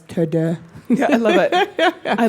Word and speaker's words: TeuxDeux: He's like, how would the French pronounce this? So that's why it's TeuxDeux.